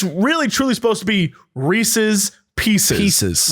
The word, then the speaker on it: Reese's: of it right because it rhymes with pieces no you're right you're totally right if it's really truly supposed to be reese's pieces pieces right but